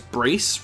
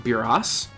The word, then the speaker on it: Brace: so you'll notice that I will pronounce that as brace rather than buros there's a reason because buros is actually a mistranslation and it's supposed to be brace as in a vambrace that's what he's named